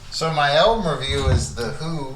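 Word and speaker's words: The HU: my album review is the who which is it's spelled hu and it's a Mongolian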